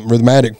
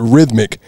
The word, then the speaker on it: rhythmic: I do it Rhythm rhythmatic rhythmatic rhythmatic rhythmatic for that's not a word either rhythmic is the right way to say that um Chad when you